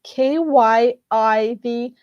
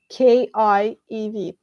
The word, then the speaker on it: Kyiv: foreigners, you guys, that the correct pronouncing of Kyiv, it's like the way it's written now, with Y, Kyiv, not Kiev, because Kiev, it's a Russian spelling. So basically, it's how you would spell Kiev in Russian language, Kiev. In Ukrainian, you should pronounce it as Kyiv.